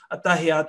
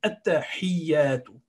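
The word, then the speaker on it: التَّحِيَّاتُ: making a common mistake, which is attahiyatu lillahi, and we are pronouncing it with ha with a fatha on it. So this ha is with a kasra, which is zair. So attahiyatu, attahiyatu.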